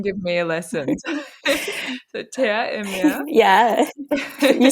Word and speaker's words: Terre et Mer: So Terre et Mer.